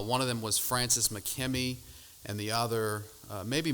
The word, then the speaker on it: Makemie: Well, Francis McKe uh again there's debate how to say his name McMe or Mckmi. We'll just we'll just go with McKimmy uh for here.